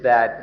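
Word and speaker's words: ธาตุ: Now we'll consider what it is that has been borrowed. according to the Buddha's teaching, what we have borrowed are elements. The Pali word is dhatu. In Thai it's pronounced tha, which can be translated as natural elements.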